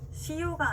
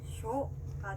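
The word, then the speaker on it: しょ: 이 글자 시에 작게 요가 붙었습니다. 발음 어떻게 될까요? 그렇죠. 시요가 아니라 쇼가 됩니다.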